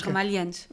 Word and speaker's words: Ramalho Eanes: Ou o antigo presidente da República, que era Ramalho Eanes, nós pronunciamos Ramalho e Eanes. E nós dizemos Ramalhianes. Exatamente, como se fosse uma só palavra, exatamente.